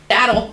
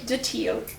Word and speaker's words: datil: Daddle. Okay. So now that we have warmed up those taste buds, we're going to try the garlic datil. Wait, did I say it wrong again? That's Daddle. Garlic daddle.